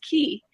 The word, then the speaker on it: Ki: which is actually um ki is actually pronounced key in japanese so it's key financial